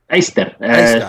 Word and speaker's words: Yster: Eister, like iron. Okay. Iron. Okay. You're an Iron Man. All right, Iron Man. Chris Wyatt is Eista.